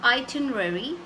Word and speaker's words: itinerary: the ready is pronounce this word has five syllables its I 10 M and E so itinerary I thin air air